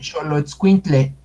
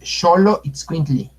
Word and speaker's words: Xoloitzcuintli: Por ejemplo, aquí escriben Xoloitzcuintle, es Xoloitzcuintli. Xoloitzcuintli.